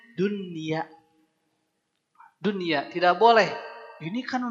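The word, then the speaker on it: دنيا: sukun ketemu ya tapi ini nama juga namanya juga izhar mutlak mutlak tidak bisa diganggu gugat kata ini harus izhar izhar artinya apa jelas tetap harus jelas maka bacanya Dunya dunia tidak boleh ini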